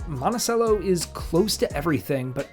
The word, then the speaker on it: Monticello: today we're back out on the road visiting monacello Illinois monacello is a small rural community of about 6,000 residents that's located between Chicago Indianapolis and Springfield Illinois as a note the town is pronounced monacello not monachello like Thomas Jefferson's estate it took me quite